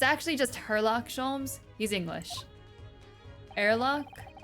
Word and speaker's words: Herlock: the policeman grinning like a Cheshire Cat that Hurlock shs it's actually just oh maybe I was pronouncing his pronunciation wrong it's it's actually just herlock schms he's English arlock is that how he's